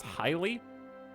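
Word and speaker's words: Haile: Imperial Dynasty to match is pronounced highly did you just make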